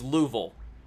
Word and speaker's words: Louisville: is there's um gosh Louisville it should be Louisville but it's Louisville like two syllables Louisville you have to